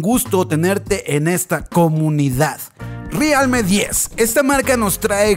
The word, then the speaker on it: realme: realmente o realme bueno a muchos de ustedes no les gusta como que lo diga como se debería pronunciar en español que es realmente pero bueno aquí hay democracia no somos dictadores así que pronunciaremos realme además como que me copa